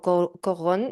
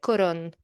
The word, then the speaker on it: Corón: atención la historia de Corón o Cogón, no lo sé, porque nació en Francia, entonces tú me lo dirás mejor. ¿Cómo lo dirías este apellido? ¿Cómo s? ¿Cómo se escribe? Corón. Corón. Corón. Tal cual.